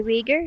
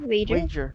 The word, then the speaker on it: wager: one lyra how did how do you pronounce that word sir i weager wager wager all right i wager that